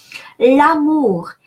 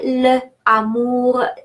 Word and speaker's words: l'amour: L'amour. Please don't say le amour. Yes, there are 2 words, the love, but it is that apostrophe is meant to make those 2 words be pronounced like one.